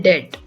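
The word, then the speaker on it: debt: कर्ज को इंग्लिश में बोलते हैं डेट। डेट। यहाँ पर बी साइलेंट होता है। इसका मतलब आपको इंग्लिश में बोलते टाइम बी को प्रोनाउंस नहीं करना होता।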